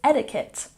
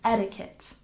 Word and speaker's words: etiquette: snuck into English is etiquette and we pronounce it etiquette with stress on the first syllable etiquette etiquette we don't say etiquet no we say etiquette etiquette very good and